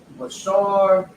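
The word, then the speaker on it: בשר: Now let me go to the pronunciation. Salakia, Bashar, Malak, Harya, Dabash, Khalab.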